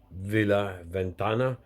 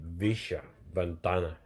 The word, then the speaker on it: Villa Ventana: to a place called Villa Ventana, or if you're from Buenos Aires or somewhere like that, you would pronounce the double L as an SH, so it would be Villa Ventana.